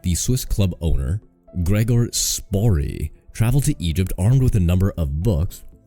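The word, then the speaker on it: Spörri: During this trip to Egypt, Spori, I'm not sure how you say it, there's an umlaut that might make an A sound. S-P-O umlaut R-R-I. Spari? We'll go Spari.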